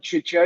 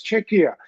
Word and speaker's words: Czechia: eventually someone told her it's not chicha it's CIA and I have argued well English speakers must learn it the same they are learning to pronounce CH uh in other words you know in chemistry and chaos and and school so U if they